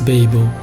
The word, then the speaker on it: BEBO: here pronounced as Babel.